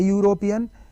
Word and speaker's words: European: So she is an honest girl, he is a European, EU makes European, yak kommiste you andi.